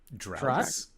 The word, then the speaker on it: draughts: Drafts? Dragon's Drafts. Drafts. Dref? We'll spell it out. Dreft? Like the laundry. Draughts. Draught. Drafts. It's pronounced drafts. Drop?